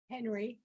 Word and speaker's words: Henry: It's Henny or Henry. Ma'am, I'm sorry if I butchered that. Henry. My name is Henry.